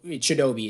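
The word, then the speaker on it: Chidobe: walk or shadowbe or chidobi is how you say not chidebay I'm an idiot T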